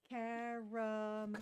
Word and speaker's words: caramel: Caramel. Caramel. Not caramel. Caramel. Here's the thing. I say, Caramel. no, because you're using 3 syllables, I made it more efficient with 2 syllables.